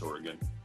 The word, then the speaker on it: Oregon: Craig Davis, pardon me, because that's how it's pronounced, right? People from Oregon. It's Oregon.